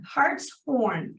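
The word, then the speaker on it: Hartshorn: Lincoln she will be a new Patrol deputy Hearts horn h a r t s h o r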